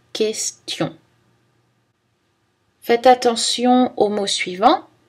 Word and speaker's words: question: Dans les séquences TION, c'est aussi prononcé S, attention, compétition, nationale, action. Mais attention, pas dans le mot question.